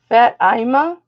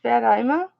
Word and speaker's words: Fatima: start this at $15 fat imma that's how it's pronounced Fatima Fatima you see how